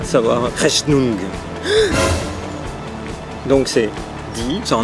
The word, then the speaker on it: Rechnung: Rechnung. Ouais. R-E-C-H-N-U-N-G. Rechnung. Ouais. Die Rechnung, bitte. Die Rechnung, bitte.